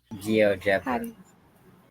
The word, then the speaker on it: GeoGebra: Geogra. Geogra. Gio. You put more emphasis on the Jebra.